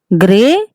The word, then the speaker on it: गृह: इसमें हम जो प्रोनाउंसिएशन है बच्चों वो री की मात्रा का है।